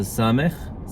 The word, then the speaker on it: ס: So sámekh sounds like S, as in Sierra.